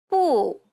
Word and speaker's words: 不: Whenever you're pronouncing the Chinese U, imagine a little girl pouting and saying no in Chinese. 不, You want to round your lips as much as possible.